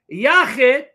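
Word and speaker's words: יחיד: Some will pronounce it Yachid.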